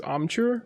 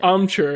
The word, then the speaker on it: amchur: I first went to, the one I was looking for today was amchur, which is like a spice that's made of unripened mangoes that are dried and then ground into a powder.